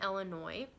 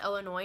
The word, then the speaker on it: Illinois: And by the way, it's pronounced Illinois, not Illinois, because a lot of people say it with the S at the end. You don't say the S at the end, okay?